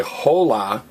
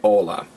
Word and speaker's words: hola: ed Amano because everybody what's the only silent letter in Spanish H and again we don't say whole la we say hola alright this has been